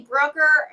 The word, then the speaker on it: Brucker: your last name correctly it's actually broker but um I'm Brookner if I owe you money so if you're watching and I owe you money I'm Brookner but okay but if you want to find me a maple broker like the sign behind